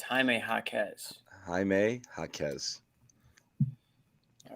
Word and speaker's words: Jaquez: How to pronounce Jaquez. I knew we didn't have it. Jaquez.